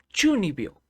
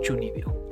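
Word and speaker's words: 中二病: Espera, ¿cómo se pronuncia? 12秒、 Hmm, 12秒、 Chuni, 12秒、 Chunibyo.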